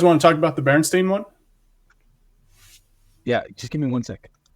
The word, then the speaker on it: Berenstain: later an animated series, which we all grew up pronouncing Berenstein, and we all thought it was spelled Berenstein, like Stein. Turns out in reality it is spelled Stain, Stain, Berenstain.